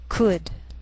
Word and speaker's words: could: she'll it'll wheel veil sometimes L can be silent so you have to be careful the first five words